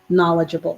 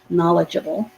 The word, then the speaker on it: knowledgeable: beginning of the word knowledgeable the k is silent okay and this o